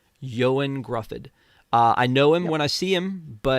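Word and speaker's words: Ioan Gruffudd: Um I I pronounce for me Reed Richard's name because I don't know it how to pronounce it. Yoan Gruffford. Yoan Gruffford.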